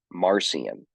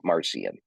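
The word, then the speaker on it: Marcion: claimed to be a teacher of the church marcian m a r c i o n marcian um marcian lived from 80 ad to 160 ad ad80 to 160 and um what marcian did was to bring about a radical break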